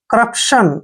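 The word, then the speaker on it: corruption: सी यू को हमने क्या पढ़ना है, क, जब भी सी के बाद यू आता है तो सी का उच्चारण क करते हैं, ठीक है। और डबल आर का उच्चारण यहाँ पे क्या करेंगे, र, ठीक है। और यूपी का उच्चारण प, ऐसे, क्रप, क्या हो गया, क्रप। अब देखिए TION को क्या पढ़ना है हमने, शन, ठीक है ना, शन।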